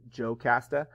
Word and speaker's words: Jocasta: Jocasta is oftentimes in the Greek spelled with an I, but it's Jocasta.